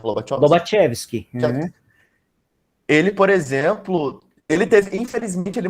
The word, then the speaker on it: Lobachevsky: É Lobachevsky que se pronuncia? Como que é Lobachevsky? Lobachevsky.